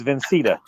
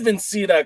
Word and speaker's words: Vincita: taking on tony vincita did i say it right this time no you didn't it's vincita that's what i said vincenta come on you said vincetta you like to throw an extra ends in your words no i i said